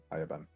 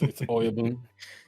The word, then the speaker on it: Oyabun: Ayabun. It's Oyabun.